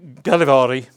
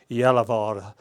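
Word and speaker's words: Gällivare: in the area of Galivari or I think the right pronunciation is Yalavara and Karuna north of the Arctic Circle there.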